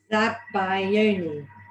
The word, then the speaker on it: Zabaglione: Zabaglione. Zabaglione. There we go. So, Zabaglione. So you don't really pronounce the G then, really? No, not really, no.